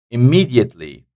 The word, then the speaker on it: immediately: the stress here identical immediately immediately so the second syllable taking this dress immediately neighor neor first